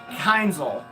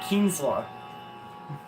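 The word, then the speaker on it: Kienzle: I always used to call Kienzla a Keinzel because I can never pronounce it correctly. And then Snow pronounced it once, and I picked it up immediately. I was like, it's Kienzla.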